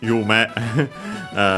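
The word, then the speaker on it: 夢: Yeah, funny enough, as mentioned, Yume mentioned already, because I said again that, well, actually, accent on the last syllable, so Yume.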